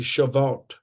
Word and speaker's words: Shavuot: It's called, and I think I'm pronouncing it correctly, Shavuot.